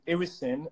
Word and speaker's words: irisin: So how do you spell that hormone? Irisin.